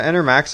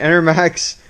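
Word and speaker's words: Enermax: went with just some inner max enter enter yeah enter max i said it right all right i said right enter max sqa rgb whatever they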